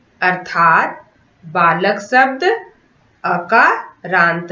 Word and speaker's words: बालकः: बालकः, मूषकः, अश्वः में जो 2 बिंदु हैं उसका उच्चारण हम ह की तरह करते हैं, बालकः, और इसे संस्कृत भाषा में विसर्ग कहते हैं।